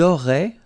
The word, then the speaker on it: auraient: vous auriez, and then ils auraient, little link, but then look, A-I-E-N-T like that, and you only pronounce E, like we had here. It will be exactly the same pronunciation here.